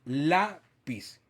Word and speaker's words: lápiz: la a la penúltima lleva el acento en la penúltima sílaba entonces lleva tilde lápiz pero por ejemplo